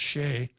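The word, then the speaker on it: Choi: by a guy named david c h o i which i understand is pronounced shea that's a probably a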